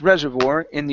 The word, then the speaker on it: reservoir: the word Reservoir so the stress here is at the very beginning dadam okay so this is the largest the largest Reservoir in the United States the largest